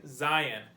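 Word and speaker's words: זין: Zayin. It's pronounced Z, like our English letter Z has a Z noise when you pronounce it.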